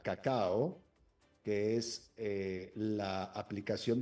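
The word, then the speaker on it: Kakao: el fundador de cacao con las dos cacao se pronuncia como el cacao que conocemos pero las dos son con k cacao que es eh la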